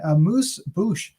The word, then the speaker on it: amuse-bouche: a moose boosh is the episode uh dave you were saying there's a couple different pronunciations but that's the best form that's that's the most americanized yes okay and uh